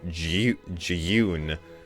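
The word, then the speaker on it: Jyun: introduction to our boy june which is spelled j-y-u-n which i'm not going to be pronouncing it g-yoon because that's dumb and i'm white i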